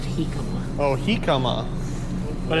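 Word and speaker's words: jicama: Chick-ama? Yeah, I think it's pronounced Hikama.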